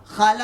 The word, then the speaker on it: خالہ: ایک فیشن ہو گیا، خا جو ہے خالہ کو ہم کھالا بولتے ہیں.